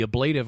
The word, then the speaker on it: ablative: And Dax says the ablative armor is holding, and it's like, okay, I know you're an actress, not a linguist, but the word is pronounced ablative.